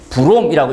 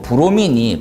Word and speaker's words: 브로민: 이게 읽을 때 브롬이라고 읽는 게 아니고 브로민이 바른 명칭인데 브롬은 이게 위험물의 명칭이